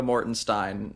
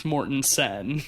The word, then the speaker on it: Mortensen: Is it pronounced Viggo Mortensen or Viggo Mortenstein, or is it Steen? It's Mortensen.